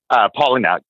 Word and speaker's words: Palahniuk: Is that how you pronounce his last name, Palahniuk? Palahniuk, yeah.